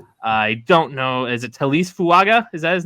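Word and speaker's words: Taliese Fuaga: Is it Talise Fuaga? Is that his name? Did I pronounce that right?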